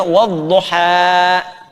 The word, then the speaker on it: wadduha: Tapi alif tidak menerima apa? Harakat. Karena itu dibacanya wadduha.